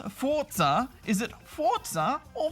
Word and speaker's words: Forza: pronounce Forza is it Forza or Forza well it's the Italian word for force and Italians usually pronounce the letter Zed similar to a TS sound in English uh for example Pizza